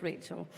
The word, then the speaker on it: Rachel: My name's been pronounced a whole host of different ways since I took on this role. It's Rachel.